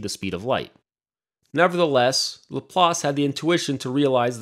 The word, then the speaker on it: Laplace: to notice this was a man named piercimon De La Place otherwise pronounced in English as LaPlace now LaPlace didn't know